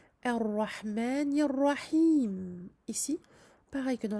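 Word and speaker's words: الرحمن: pas de difficulté supplémentaire, à part le fait qu'il faille évidemment prononcer ce alif du début, car nous commençons la lecture avec cette hamzatul wasl, elle ne sert plus de liaison.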